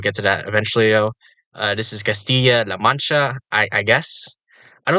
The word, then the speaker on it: Castilla: state uh but yeah Castilla and dou that's a y sound at least where I come from you know I'm American